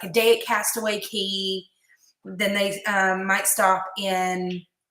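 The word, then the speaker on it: Castaway Cay: and they dock in castaway key i know it's spelled c-a-y and if you're a novice you're obviously gonna say castaway k however it's castaway key is how it's pronounced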